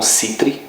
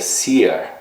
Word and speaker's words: Seere: Não Citri, o nome dele talvez seria Seer, a pronúncia correta.